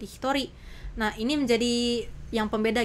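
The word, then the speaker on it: 一人: Nah, ichi ini ditambah dengan nin tidak menjadi ichinin. Loh, kenapa sensei? Kenapa malah jadi hitori?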